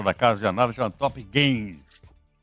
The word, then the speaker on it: Top Gain: Muito grato ao Bruno Cotrim, que é economista da Casa de Análise, chama Top Gain. Esse Gain aí se escreve G-A-I-N, não é Top Gun ainda o nome do filme, é Top Gain.